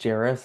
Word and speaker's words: Jairus: My name is Jairus. I always tell people it rhymes with Paris, so easy to remember.